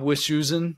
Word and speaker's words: Wischusen: Bob Wischusen, did I pronounce Bob's last name right?